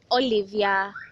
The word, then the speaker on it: Ollyve: remember this is youtube yes and it's mutual olivia my name is not mutual olive or it's